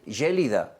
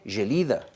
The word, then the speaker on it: Gelida: El diputado de Junts, lo primero que empezó diciendo es, no se dice Gélida, se dice Gelida.